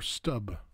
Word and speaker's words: Stumpp: that of German man named Peter Stumpp or Stubb as pronounced in the